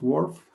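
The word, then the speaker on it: WRF: logo first most important this is how you pronounce wharf for you track is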